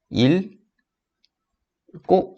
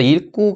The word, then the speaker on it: 읽고: 어떻게 발음 할 거야 이거는 우리가 1 꼬 라고 발음을 해야지 맞습니다 읽고 앞에 있는 애쓰는 리 우리 털 막힘 인데요 여기서는 기억이 탈락하는 사례가 됩니다 그래서 1 꾸 가 발음 된 과정도